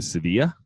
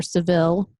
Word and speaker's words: Sevilla: we will be driving to Sevilla or Seville yes pronounced Seville in the United States if you own a Buick and they call it Sevilla and will be there